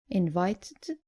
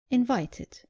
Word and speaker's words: invited: So, not invited, but invited. And not demanded, but demanded.